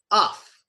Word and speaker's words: rough: And we pronounce it here, uff, okay? It's pronounced uff in this case.